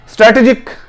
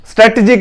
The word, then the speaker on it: strategic: Next word है STRATEGIC, STRATEGIC स्ट्रेटेजिक। स्ट्रेटेजिक इसे नहीं पढ़ते, क्या पढ़ते हैं ऐसे? STRA straw, STRA straw, TEEGIC टीजिक, स्ट्रैटेजिक, स्ट्रैटेजिक, स्ट्रैटेजिक पढ़ेंगे इसे, स्ट्रैटेजिक।